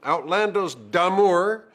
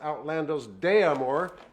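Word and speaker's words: Outlandos d'Amour: not So Much Anymore the first album outl damour sometimes pronounced outl deamore which is incorrect the next album rata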